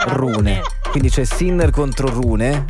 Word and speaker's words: Rune: il nome dell'avversario E perché non sappiamo se si pronuncia rune Run o rune Lui è tipo Danese credo Vis Ah vabbè quindi si rune quindi c'è sinner contro